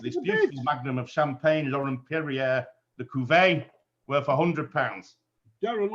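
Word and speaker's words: Laurent-Perrier: So it's Laurent Perrier La Cuvée.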